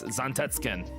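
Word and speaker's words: Zantetsuken: for Odin's and tetskin or is it zantet suken or zentetskin well technically if you're gonna pronunciate if you're gonna pronounce it right it's zontetskin It's like because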